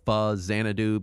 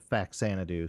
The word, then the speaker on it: Faxanadu: Saturn does have note on pronunciation it's technically pronounced fuz zanadu because you know uh zanadu is already an